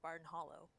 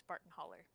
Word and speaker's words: Barton Hollow: they performed it live, the guy said that he will not pronounce it Barton Hollow. It is always Barton Holler. Barton Holler. Because it is too close to the place that he came from, and I'm like, oh, Whoa.